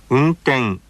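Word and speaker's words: 運転: As an example, let's listen to the pronunciation of the word meaning operation of a vehicle. 運転運転 Next, listen to the word meaning a fight.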